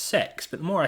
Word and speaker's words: CeX: see where i'm at cex i think is pronounced sex but the more i